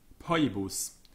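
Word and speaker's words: Phoebus: So CH and TH and PH are like K, T, and P, followed by the letter H. So Bacchus, Cetegus, Poibus.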